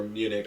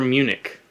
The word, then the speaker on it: Munich: Munich is like the English pronunciation and spelling.